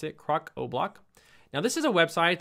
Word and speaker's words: Crocoblock: That's how you pronounce it, Crocoblock.